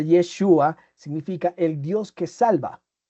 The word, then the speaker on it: Yeshua: El nombre de Jesús, que según pues los estudiosos se pronuncia Yeshua, significa el Dios que salva.